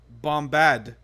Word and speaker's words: Bombadil: did not know that you were supposed to pronounce his name as Tom Bombadil, with the emphasis on the Bombad.